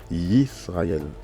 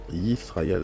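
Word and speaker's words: ישראל: En hébreu, en fait, Israël s'écrit avec un Y d'abord, ensuite un I, S, R, A, E et L, d'accord? Donc ici, en hébreu, c'est marqué Yisraël, Yisraël.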